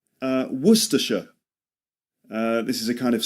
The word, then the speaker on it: Worcestershire: A sauce that comes from a place in England called Worcestershire. Worcestershire sauce. Worcestershire. So Worcestershire, remember, only 3 syllables.